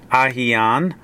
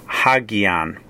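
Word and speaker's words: ἁγίαν: For example, this word under the Erasmian would be hagian. Hagian, that would be a rough breathing mark, and then the gamma would be a hard G sound.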